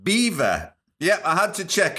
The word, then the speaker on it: Belvoir: it was by the Belvoir Hunt. Now, apparently, it is pronounced beaver.